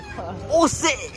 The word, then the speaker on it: Auxerre: Et oui, ça s'écrit qu'un X. Auxerre. Mais ça se dit Auxerre.